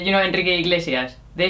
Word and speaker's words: Iglesias: we called him Julio Inglesi. Why? Because we didn't know how to pronounce Iglesias, no? And so you just put an N. I just put an N and say Z.